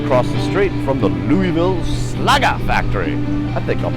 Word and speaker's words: Louisville: live from Louisville Kentucky took me a couple of times to learn how to pronounce that correctly I was calling it Louisville much to my sh Louisville Kentucky future home of